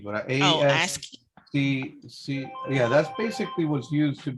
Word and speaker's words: ASCII: that's it's pronounced ASCII, but Oh, ASCII.